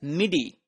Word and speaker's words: MIDI: So, then there is an alternate method known as MIDI, which is pronounced as MIDI.